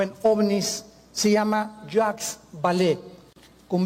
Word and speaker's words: Vallée: El más grande experto en ufología o en ovnis se llama Jacques Vallée, con B de Víctor y doble L. Vallée se escribe, Jacques Vallée, Vallée en francés.